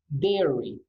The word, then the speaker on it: dairy: the pronunciation there okay it's not going to be dying diary now it's going to be very that I is hardly pronounced we basically will we practically don't pronounce behind dairy and the poor vocabulary